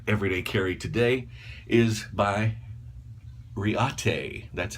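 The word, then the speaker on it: Reate: the day my everyday carry today is by Reata that's how you pronounce that Rea te REO REO ta ya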